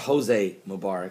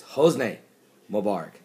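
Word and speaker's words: Hosni Mubarak: an email says Paul his name's not Jose Mubarak it's hos Mubarak got it okay this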